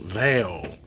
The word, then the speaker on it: primeval: I am going to quickly talk about the series on Netflix called American Prime Evil, and it looks like it's pronounced Vale, not evil, but when you break it down, it's basically primeval.